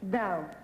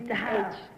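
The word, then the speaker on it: dhow: Dow. Dow. I always want to know how to spell it. Daha. I always thought it was Daha. Dow. Now I know.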